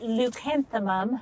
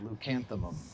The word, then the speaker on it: Leucanthemum: so you have to say that name again because I want to be able to pronounce it. Leucanthemum. Leucanthemum.